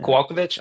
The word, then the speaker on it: Kowalkiewicz: I'm not going to try to pronounce. I'm bad with Polish Kowalkiewicz. names. Yeah, Kowalkiewicz.